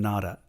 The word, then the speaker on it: Nara: There's this place called Todaiji Temple in, it's in Nara. It looks like Nara, but you're not pronouncing it right if you say Nara. It's Nara. You're Nara pronouncing it.